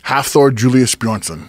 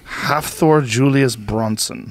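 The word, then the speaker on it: Hafþór Júlíus Björnsson: Julius Bronson just calm Thor say it again half Thor Julius Bronson half Thor Julius Bronson bjornsen B onsen yeah he's a savage yeah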